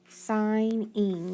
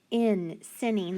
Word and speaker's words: signing: That G is going to be silent, because when I sound it out, I'm going to say sign. Signing. Now listen though. I. That actually makes a long I sound. So that is part of a rule breaker. So we're going to change it to that long I. If I tried to sound it out, sinning, that doesn't sound right, does it?